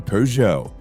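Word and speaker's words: Peugeot: And in 1936, the car company Pujo, which is spelled PJO, hired him to create a super streamlined version of their 402 model.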